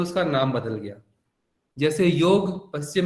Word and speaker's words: योग: क्योंकि योग पहले यूरोप गया, इंग्लिश में उसको YOGA लिखा गया, फिर उसको योगा उच्चारण किया गया, फिर योग पश्चिम से फिर भारत आया और हम लोग ने उसको योगा कहना चालू कर दिया।